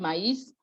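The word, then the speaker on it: maïs: So she already said maize. Normally we have MAI that says me. But when you have the tremor on it, you can't say me anymore. You're gonna say maize.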